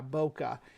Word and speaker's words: bokeh: You can use it to make a phenomenal, beautiful effect that's popular in Christmas cards and stuff called bokeh, I believe that's how you pronounce it, BOKA.